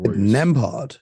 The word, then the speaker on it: Nembhard: Yeah, this kid Nembhard. Is that how you pronounce it? Yeah. This is what I get for not listening to the commentary. I pronounce names wrong. Nembhard.